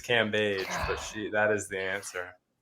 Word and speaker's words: Cambage: And even though one of you pronounced this person's name wrong, her name is Liz Cambage, but that is the answer.